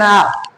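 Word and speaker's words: hour: I will complete it with in एन आवर। तो आर ही यूज़ हुआ। इसमें भी रा कम बोलता है। ठीक? तो यहां एच साइलेंट होता है तो वो भी वैसे ही बोल गया।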